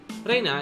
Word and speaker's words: Rena: Her real name is Reina Ryugu. Reina, is it? So it's read out as Rena instead of Reina. That's a pretty interesting reading. No, that's not it. Reina is the correct way.